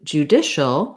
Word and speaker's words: judicial: When we switch to judicial, we have second syllable stress rather than first, and we have different vowels.